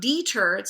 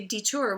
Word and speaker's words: deter: about this too long in that case it's not deters so the axes on the turo on the second syllable the open syllable D is it tends to be a schwa we don't always say detour we say deter with an O deter so I hope I